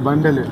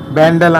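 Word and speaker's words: Bandel: ఇదిగో బండెల్, బ్యాండెల్ అంటారు, బండెల్ అంటారు. ఇదిగో బండెల్.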